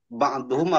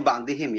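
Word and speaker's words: بعضهم: Jadi yang tadi wa fi haqqi ba'duhum apa ba'dihim, ini bacanya ba'dihim ya. Jadi ba'dihim karena dia menjadi mudhaf dari haqqi.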